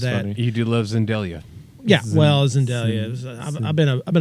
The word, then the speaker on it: Zendaya: I think you're saying her name wrong. Zendaya. There's no L. It's Zendelia now.